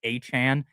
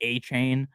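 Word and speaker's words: Achane: I know it's A-Chan. Sometimes I say A-Chain.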